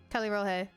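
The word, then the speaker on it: Callirrhoe: Calirohe. Which I now know how to pronounce her name after the quest is done.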